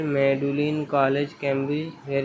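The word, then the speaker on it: Magdalen: Was educated eight Clifton college Bristol and मैगलन pronounced मेडुलिन college Cambridge where he studied philosophy.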